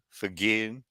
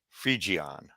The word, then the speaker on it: Phrygian: G and G, Phrygian, Phrygian, G like in fridge, Phrygian, Phrygian.